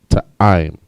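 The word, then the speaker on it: טעם: Taste in the Hebrew is ta'im. Ta'im. Ta, I, and ma. I and ma connect. Ta'im.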